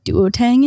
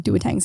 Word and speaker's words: Duo-Tang: Anyway, we call them duotangs in Canada. Okay. Duotang? Anyway, Dua. It's spelled duo, but you say Lipa?